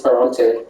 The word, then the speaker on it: Ferrante: Anne Goldstein learned Italian to read Dante and has translated this pseudonymous author whose name rhymes with Dante. Chris. Who is Ferrante? Elena Ferrante, you got it.